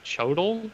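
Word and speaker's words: Xochitl: who i like her first name is spelled x-o-c-h-i-t-l so maybe chodel so she told me something like that gomez her last name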